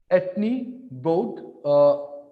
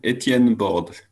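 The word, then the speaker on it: Étienne Borde: Speaker name is Etienne Borde. Is it correct pronunciation? Not really, neither the first name nor the last name. Etienne Borde. Etienne Borde.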